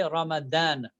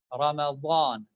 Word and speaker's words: Ramadan: All right, we say Ramadan, which is wrong. It is somehow between the DH and ZH. All right, it should be pronounced between these two pronunciations. Wa, saw, da. All right, it should not be completely pronounced as D, da. Like Ramadan is wrong. Ramadan, something between D and Z. All right, but with the heavy sound.